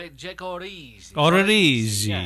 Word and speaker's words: Odorizzi: Can you pronounce this for us, Mike, correctly? Jake Odorizzi. Odorizzi.